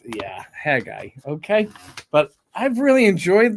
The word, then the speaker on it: Haggai: notes for haggai and I am going to say haggai because I don't like when people say Aggie eye because that's actually not how that's pronounced it's yeah hair guy okay but I've really